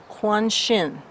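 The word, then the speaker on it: Qingxin: Now, number two, I just went and listened to a lot of pronunciations, and the one that I am going with is Kuan Shin.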